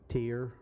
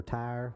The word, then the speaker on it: Tyr: Tyr or Tyr, which however you want to pronounce it, because it's spelled either T-I-R or T-Y-R.